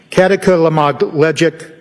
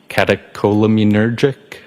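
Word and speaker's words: catecholaminergic: Um, kataka lamogleic tacocardia. I probably butchered that up. Does that ring a bell? Uh, katakolamunergic.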